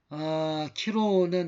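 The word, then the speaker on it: Chi-Rho: 이걸 보면 키로라고 그러는데, 키로는 그리스어로 이제 크리스토스의 처음 두 글자 키 내지는 카이라고 이걸 읽고, 그 다음에 이걸 우리말로 영어로 P, 이건 X라고 생각하지만 이제 키로입니다.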